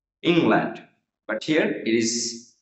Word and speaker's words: England: England, first syllable here, right? England.